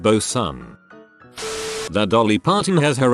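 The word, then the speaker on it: boatswain: Like Leewood is pronounced Lord and Bosan is pronounced Bosan.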